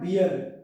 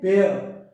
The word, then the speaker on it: bear: we should say ballet bear not beer we should say bear ballet beer bear beginning